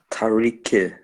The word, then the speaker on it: Tariq: Tariq.